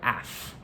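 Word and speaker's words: æf: It comes from a word spelled the same, oaf, in Old English, which was the unstressed form of another Old English word, af, which you could spell AEF.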